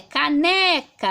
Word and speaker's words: caneca: Agora a sílaba que eu coloco mais força, porque nós em português falamos quando o ar sai, quando expelimos o ar, percebemos que é o né, caneca, aqui a gente põe mais força, tá? Então ela é uma paroxítona, ou seja, a penúltima sílaba é mais forte, e como vocês podem